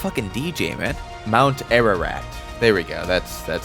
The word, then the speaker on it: Mount Ararat: Mount Ararat. There we go. That's That's how you pronounce that.